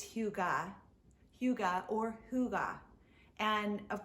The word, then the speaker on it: hygge: is the concept of hygge or hygge and i believe i'm pronouncing it correctly it's either more like if you think of uh a man's name hugo but it's hugo hugo or hygge and